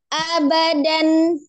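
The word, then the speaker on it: أبدا: harakat contoh ada bacaan abadan Nah setelah itu ada tanda wakaf ya abadan ada tanda waakaf maka dibacanya abada jadi dan diganti da dua harakat itu ya jadi namanya Mad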